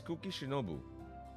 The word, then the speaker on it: Kuki Shinobu: Did I mispronounce the name? Yes. Yeah, it's Kuki Shinobu.